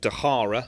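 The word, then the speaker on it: De Garre: selection but great pub they're called dejara spelt with a G you know what they're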